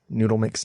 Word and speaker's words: Noodle Mix: April 10 2019 farewell noodle mix Network when I started noodle mix Network in 2010 originally written noodle dot MX network but always pronounced the same I had a vision